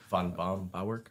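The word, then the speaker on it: Böhm-Bawerk: This concept was introduced by Von Baumbauerk, I believe.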